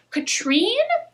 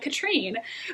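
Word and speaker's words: Katharine: a very powerful Elemental Katrine though it's spelled like Catherine the audiobook pronounced it like Katrine who is a poisoner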